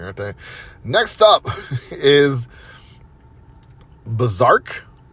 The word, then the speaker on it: BRZRKR: Next up is Berserk, It's BRZRKR. That's how you spell it.